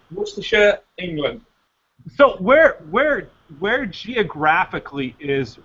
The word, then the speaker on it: Worcestershire: It's not, you guys pronounce it wrong. It's Worcestershire.